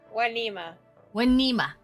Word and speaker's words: Wana: Anyways, Lady Wina Win, how do you say your name again? Wana.